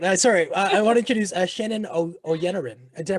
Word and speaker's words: Oyeniran: So without a doubt, I want to introduce Channon Oyeniran. Did I pronounce that correct? Oyeniran, you got it.